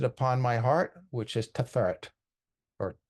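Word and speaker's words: Tiferet: And I place it upon my heart, which is Teferet or Teferet, however you prefer to pronounce it.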